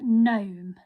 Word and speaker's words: gnome: one this is a gnome okay so again it's spelled with a g but this g is silent so we don't say it we say gnome okay